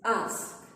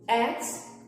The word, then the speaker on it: ask: is ask don't say x or x if you are learning general english make sure to say ask not x so that it sounds correct to people all over the world for example ask no